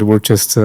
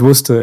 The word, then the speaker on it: Worcester: Uh normally people pronounce it Worchester or Worcester but worester is the most famous sauce uh that is